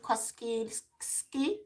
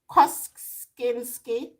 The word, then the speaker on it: Kosinski: Okay, I can't pronounce that, by Joseph Kosinski. Kosinski.